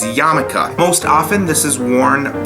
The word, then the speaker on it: yarmulke: yarmulke and tell you that is how you say yarmulke. It's not yarmulke or yalmulki or yalmilky. I've heard it a lot of different ways, but it is yarmulke.